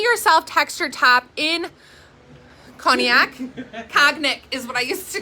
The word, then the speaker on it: Cognac: Cognac is what I used to call it. Cognac. And Christine was like, that's not how you say it. Cognac.